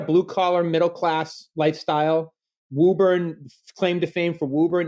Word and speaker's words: Woburn: Woburn? Woburn. Okay. In the Northeast, it's hard to know which letters you pronounce or don't.